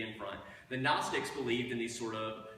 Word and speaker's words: Gnostic: So just like we have a silent K before our word knowledge, right? We have knowledge in English. Gnostic is G-N, so the Greek word gnosis, which we hear as an N but has a G in front.